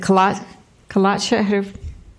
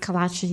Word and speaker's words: Kalachi: I don't know, I mispronounced it. Kalacha. Help me out there. Kalachi, yes, he passed away.